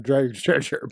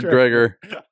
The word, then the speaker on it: Dreger: I pronounced all the letters in his name. That's the problem. So it should be Dredger. Dreger.